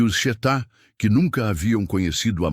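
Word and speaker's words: Xetá: Os Chetá, pronuncia-se Chetá, eram o último grupo indígena nômade do sul do Brasil.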